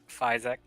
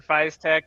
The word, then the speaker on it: FYSETC: I've been saying it Fizztech or Fiztech. Yeah, Fizek. Well, there's it's ETC. Jano? Yeah, FYSETC. etc. Yeah. Fiz, Yeah. etc. Is that how you say it? No, Eh, because much like this other person, I wish I remember who it was. I do a lot of Linux, so it's Fizzetzi.